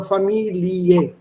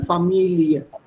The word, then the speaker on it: Familie: Also am Ende, wenn es ein IE steht, vor allem mit diesem Wort und solche geliehene Fremdwörter, da spricht man die Endung als IE aus, also Familie. So junge Familie. I'm exaggerating it, but you don't say family, da sagt man dann Familie.